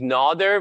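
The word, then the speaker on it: Nader: pronounce my name uh my first name is nodder with like the eye is actually like you know long and my last name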